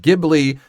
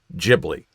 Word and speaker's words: Ghibli: Yes, the original word is Italian and pronounced Ghibli, but Miyazaki borrowed the word for his studio and used the Japanese pronunciation, which is Ghibli.